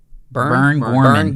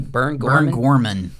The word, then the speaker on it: Burn Gorman: Burn Gorman. Burn Gorman.